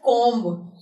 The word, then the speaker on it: comb: And you won't be pronouncing C-O-M-B as comb. You will be saying it's comb.